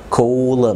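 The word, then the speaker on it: column: الان لما بتبقى جايه بعد الام، زي كولم، في حاجه اسمها كولم. كولم ما تنطقش الان.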